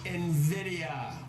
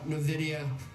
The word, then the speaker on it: Nvidia: plus much more on Nvidia that's how it's pronounced write it down like it's got an e in Nvidia if you hear an analyst call Nidia don't listen to him